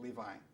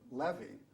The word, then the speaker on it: Levi: okay that's your name Levi and half the family then pronounced it Levi half the family pronounced it Levy and so my father